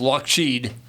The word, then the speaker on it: Lockheed: They were pronounced the name actually was used to be pronounced Lockshed as opposed to Lockheed.